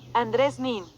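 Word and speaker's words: Andreu Nin: It says in Spanish it is Andres Nin, so maybe I'm saying it wrong. Andres Nin. Andres Nin, so I've been saying it wrong.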